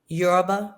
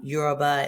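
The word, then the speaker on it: Yoruba: Epha Euroba, which is actually a a tribe in Africa as we know the continent of Africa. So, um Euroba.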